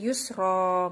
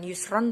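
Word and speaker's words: يُسْرًا: Jadi bukan jadi fathah tanwin, jadi kayak bacanya kayak jadi fathah tok. Inna ma'al usri yusro, bukan yusron tapi yusro.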